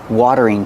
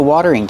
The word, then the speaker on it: watering: You water the plants with the watering can. This is a watering can. Pronunciation watering. The T is a fast D.